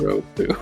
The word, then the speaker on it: Yoruko: Yeah, just remember the first syllable of that is yo, which always makes the yo sound. Like Well, I keep yo-yo. saying like your, like, because that's how it sounds in English, like.